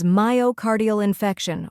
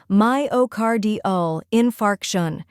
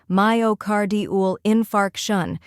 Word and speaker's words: myocardial infarction: Third part, infarction, emphasize the fark part, like park. When you put it all together, myocardial infarction. Now let's practice together. Repeat after me, myocardial infarction. One more time, slowly, myocardial infarction.